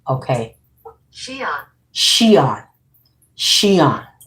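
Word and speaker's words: Xi'an: Shion. Shon. The X is pronounced as a S.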